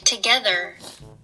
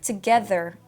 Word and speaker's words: together: Make sure your tongue is touching your teeth and sticking out a little bit.